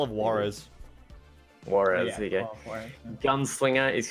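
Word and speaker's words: Juárez: How do you pronounce that? Juarez? Call of Juarez. Juarez, there you go.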